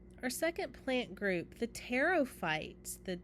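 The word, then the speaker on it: pteridophytes: Our second plant group, the teropites. The the P is silent, so we call them the teropy.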